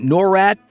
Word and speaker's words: NORAD: Known as the North American Aerospace Defense Command or NORAD (pronounced NOR-AD), this tenant command is responsible for ensuring the skies over the US are safe from any incoming threats, including nuclear weapons.